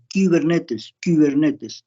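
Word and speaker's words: κυβερνήτης: Porque la palabra cibernética proviene de Kubernetes, K-Y, Kubernetes. Esa Y se pronuncia como la U francesa, Y.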